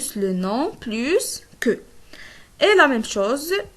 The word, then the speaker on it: plus: Mais cet S, on ne le prononce plus pour une comparaison de qualité. Si on utilise les adjectifs ou bien les adverbes, on ne prononce plus le S. On dit plus que.